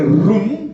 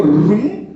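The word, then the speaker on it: רום: Entonces, cuando habla de aumentar, del Hebreo 73:11, rum, a ver ya conmigo, rum, como cuando usted está aprendiendo a hablar inglés, hermano, ¿cómo se dice cuarto en inglés? Room. Room, ¿sí?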